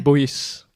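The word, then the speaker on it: Boyet: c'est parce que Boy, avant, s'écrit B-O-Y-E-T. Et c'est Ah, prononcé ouais. Boyes.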